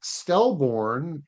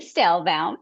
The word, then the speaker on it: Stelbound: Uh, next up I've got um Stelborn. And I pro I know I mispronounced your name. Uh, certified brain longevity specialist. It's Stelbound.